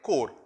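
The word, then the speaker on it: corps: of england so he's serving in her diplomatic core c-o-r-p-s the way it is pronounced the diplomatic service out here another exacting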